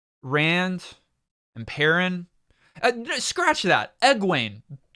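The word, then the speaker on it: Egwene: and perrin scratch that ed wayne is that how you pronounce her name aguain it's probably more like that um it's not egg weenie but i i really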